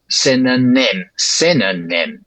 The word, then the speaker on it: synonym: And also the last syllable of that word, synonym, right? Because the first and last syllables of that word, synonym, those are stressed. The first one is primary stress because it's high, spit, nim.